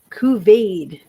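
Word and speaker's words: couvade: Okay, Kuvade is how we're going to pronounce this. It's C O U V A D. Kuvade.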